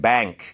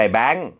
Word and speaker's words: bank: อย่าง นี้ B หรือ Bank ก็ ได้ นะ ครับ ไม่ ใช่ แบงค์ ถ้า พูด ว่า แบงค์ นะ ครับ ก็ จะ เป็น อีก คำ นึง นะ ครับ ก็ คือ